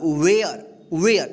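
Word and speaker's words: where: just पहले ए है यानी ए के बाद आर ई रहे तो इस ए का उच्चारण कि क्या होगा य होगा ठीक है इसलिए यहां पे डब्लू ए आर ई क्या होगा वेयर वेर ठीक है ए का उच्चारण हुआ है ठीक यहां प देखिए एस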